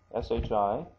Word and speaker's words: shi: and se and so, why is this one she and not si? Well, that's the way they pronounce it.